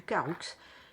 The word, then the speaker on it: Caroux: Enfin, du Caroux, ici, ils disent le Caroux avec le X qui est prononcé à la fin.